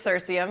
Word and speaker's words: Cirsium: So, you want to hear me say it wrong? Sure. Cirsium That wildflower? was pretty close. It's Cirsium, yeah.